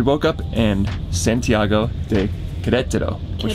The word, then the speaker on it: Querétaro: So we woke up in Santiago de Querétaro, which Querétaro. We realized we found out we're pronouncing it wrong this whole time.